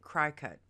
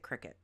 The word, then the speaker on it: Cricut: a Cricut or as some people pronounce it cry cut I pronounce it Cricut cricet is a gamechanging cutting machine that's revolutionized